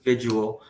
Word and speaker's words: vigil: that because the first vigil I say it wrong every time this morning it's going to be built it's like Virgil without an R vigils yeah I always